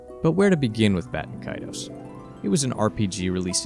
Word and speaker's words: Baten Kaitos: The correct English pronunciation, first and foremost, is Baten Kaitos.